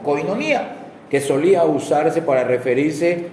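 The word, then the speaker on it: κοινωνία: Esta palabra se deriva del sustantivo griego koinonia o koinonia, porque yo cuando la leo no tiene el acento en la i, pero siempre se conoce como koinonia, que solía usarse para referirse a asociación, comunión, compañerismo o participación conjunta.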